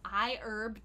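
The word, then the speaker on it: iHerb: you about something called I herb calm so it looks like a herb calm but the H is silent right it's a fantastic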